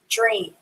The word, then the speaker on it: dream: kind of silent here the a sound is silent so you write it but you don't hear it when you say it dream d-r-e-a-m i had a